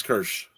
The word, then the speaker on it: Kirsch: Kirsch. It's his character name is Kirsch.